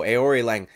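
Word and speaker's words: Aoriqileng: that time dude let's go aori Lang that's how you say it bro it just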